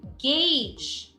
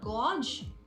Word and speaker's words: gauge: th there is voiceless three gauge okay this is not gorge okay that is spelled